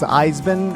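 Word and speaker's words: Eisbein: to and the uh I believe it's pronounced isbin uh yeah I believe you said that correctly and it's the uh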